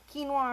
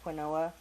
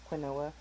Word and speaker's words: quinoa: do that fun tip i used to call it quinoa because how it's spelled see quinoa you can use long